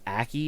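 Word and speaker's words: Ackie: Naomi, I think it's Aki is how you pronounce it.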